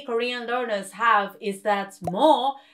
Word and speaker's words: 뭐: Another confusion many Korean learners have is that 뭐 does not really sound like M, but more like B.